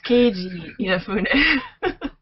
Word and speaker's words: Keiji Inafune: manager of Comcept, the new company formed by Keiji Inafune. Did I pronounce his name right? You tried. It's Keiji Inafune.